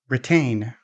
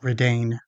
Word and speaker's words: retain: The following words have the T in the stressed syllable, which means we don't use the flap T, but we use the strong T or the fully released T instead. Attack, not adack. Retain, not redain.